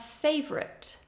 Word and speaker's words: favorite: we have favorite favorite the spelling looks like it should be favorite favorite but we do reduce that second syllable favorite favorite we don't entirely lose it but you can hear that it is reduced try again favorite